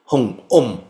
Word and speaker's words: Om: Likewise the uh om yes in the case of om your lips do come together but it's still a nasalization so the at the end is strong yeah om so the syllable has actually three soundss they say a Om.